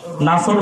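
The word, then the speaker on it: نصر: আর আপনি বলেন ইযা জাআ নাসরুল্লাহি ওয়াল ফাত, সদের জায়গাতে আপনি সিন উচ্চারণ করেন। যেরকম তো কি উচ্চারণ করেন? নুন সিন র।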